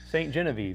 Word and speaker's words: Ste. Genevieve: Hopefully I'm pronouncing that right. Ste. Genevieve.